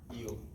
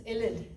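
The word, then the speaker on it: ylide: Yield. No, it's ilid.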